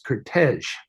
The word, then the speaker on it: Curtiz: um, we're all wrong because being a Hungarian, I believe the correct pronunciation of his name is Kurtej. Kurtej. Michael Kurtej, and That's pretty. but nobody says that because it's just Americanized, and because it's just a Z on the end.